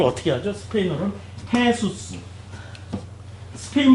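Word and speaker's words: Jesús: 스페인어로는 헤수스. 스페인 발음으로 이걸 해 발음이 나요. 헤수스 이러고 가.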